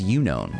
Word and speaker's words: Unown: See, that's why I thought it was Unown, right? Because it's U-N-O-W. Phonetically, it's what it looks like.